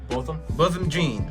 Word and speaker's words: Botham Jean: Botham Jean, by the way. Yeah, exactly. Bill, how you pronounce his name again? Botham Jean, right.